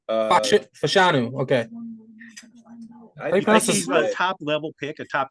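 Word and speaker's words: Fashanu: what Caleb we on the correct way to say the name Caleb how do you pronounce that name it's it's fanu fanu okay he's a top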